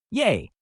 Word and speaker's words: Ye: True enough, it is still pronounced yay, although the letters themselves were actually backwards.